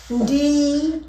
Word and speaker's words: ndi: So the difference is that Xhosa will be, they'll say Ndi. D. Zulus will say Ngi.